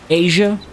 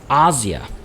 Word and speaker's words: Asia: Not just because I'm probably butchering the incorrect pronunciation myself, but it's actually Veni, Vidi, Vici, because, well, that's classical Latin. Asia? Nope, it's Asia.